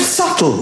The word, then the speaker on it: subtle: The word subtle, would anybody object if it was spelled S-U-T-L-E? Not a single person would. But there's a B in the middle going, shh, just ignore me.